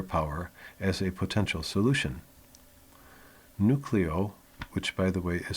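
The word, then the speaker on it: Newcleo: Nucleo, which by the way is spelled N-E-W-C-L-E-O, Nucleo has agreed to merge with New York-based SPAC, Special Purpose Acquisition, SPAC Newhold Investment Corp.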